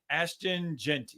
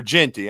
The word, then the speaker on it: Ashton Jeanty: How do you pronounce his name again? To Boise State, Ginty, Ashton Jeanty, or Genty.